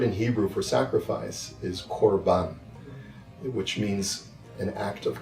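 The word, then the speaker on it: קרבן: The word in Hebrew for sacrifice is 'korban' which means: an act of coming close.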